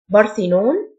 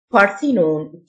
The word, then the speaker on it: Parthenon: flight يفتقد miss miss Parthenon Parthenon th تنطق ث جواز سفر passport passport